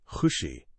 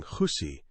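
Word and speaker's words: खुशी: Instead of saying khushi, which means happiness, I ended up saying khusi, which, well, doesn't mean anything pleasant.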